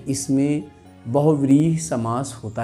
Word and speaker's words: बहुव्रीहि: क्या पढ़ेंगे हम लोग, पहले तो इसी का उच्चारण बच्चों ठीक से करना चाहिए, बहुव्रीहि।